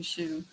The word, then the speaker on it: Hsu: reach out to Ming Shu. Tell me the name Ming Shu. Ming his spelled the last name. It's pronounced shu but it's hsu.